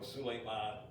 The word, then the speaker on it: Suleiman: And so Suleiman translates this to Solomon. Oh, okay. All right. And that name is pronounced Suleiman in That's- Lebanese Arabic.